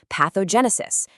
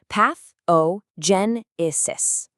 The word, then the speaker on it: pathogenesis: Our fifth word is a fantastic high-level medical term, pathogenesis. Listen closely. Pathogenesis.